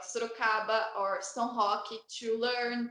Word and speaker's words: Sorocaba: Sorocaba. Sorocaba.